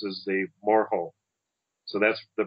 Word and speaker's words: Moehau: m o h which apparently the white colonist pronounce as the moal and uh the Mar's pronounce is the moro so that's the pronunciation we're going to use